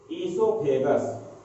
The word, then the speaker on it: oesophagus: Here the pharynx open in the muscular tube which is called as oesophagus. It is pronunciated as esophagus, and this esophagus also called as food pipe.